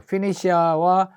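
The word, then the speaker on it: Phoenicia: 죽겠다 그래갖고 도망을 간게 어디까지 멀리 갔는가 하면은 발음을 봅시다 티 우리는 보통 페니키아 그러고 사이프러스 티업은 뭐 똑같아요 피니시아 사이프러스 티어까지 멀리멀리 도망을 갔어요 이게 도대체 어느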